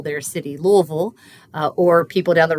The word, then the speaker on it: Louisville: So in a word like Louisville, the punch is on that first syllable. We'd call that the stressed syllable. The other two are not stressed.